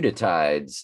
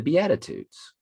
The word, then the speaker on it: Beatitudes: the beauty tides the bayou how do you pronounce that um the euditides is what's flashing in my head but that's